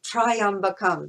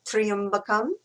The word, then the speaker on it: Tryambakam: So in if we read it from an English perspective we might say triumpam but it's actually triumpam tree. So um t r y is a triump.